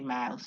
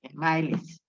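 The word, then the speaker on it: Myles: that a youtube okay doctor miles jimmy mouse is spelled m-y-l-e-s e for emmanuel s miles dr miles gmp on youtube it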